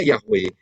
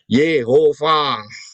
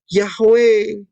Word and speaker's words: Yahweh: Ya, dan mereka dengan menggunakan nikut itu ternyata mereka belajar, ternyata bacanya Yehova. Keliru.